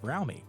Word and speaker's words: Fromme: Lynette Squeaky Frowmy, which incidentally, it really is pronounced Frowmy, not From.